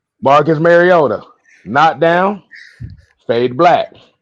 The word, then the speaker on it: Mariota: Like I said, Marota Yeah. got knocked down. Stayed down. Stayed down. Ritter knocked down. Went home. Stay. Hold on. Hold on. Let me say it right. Marcus Mariota.